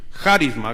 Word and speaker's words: carisma: Bueno, le voy a preguntar a Guillermo, ¿cómo se pronuncia la palabra carisma o carisma? Tal cual como carisma, gracias.